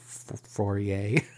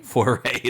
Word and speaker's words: foray: our first uh for how do you say this word forier foray foray there it is uh into dexterity games